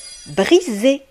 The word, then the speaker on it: briser: Vous voyez ici le S, mes amis, va se prononcer Z.